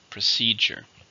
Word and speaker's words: procedure: it's a chemical Mountain how many syllables procedure three stresses in the second procedure the company has